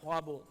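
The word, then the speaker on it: ख़्वाब: आपने लफ्ज़ इस्तेमाल किया ख्वाबों ख्वाबों नहीं होता बेटा ये वो मजबूर है ये ना पड़े साइलेंट है ये ख्वाब ख्वाहिश ठीक है ना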